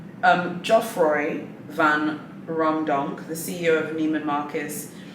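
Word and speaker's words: Geoffroy Van Raemdonck: Jeffrey Van Romdonk. Yeah, I think that's his name. No, I think I've said his name wrong. Geoffroy Van Romdonk, the CEO of Neiman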